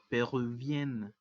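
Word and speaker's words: péruvienne: Por ello se le agrega una doble N para que la E que le antecede tenga un sonido abierto. Por eso la pronunciación es peruvienne.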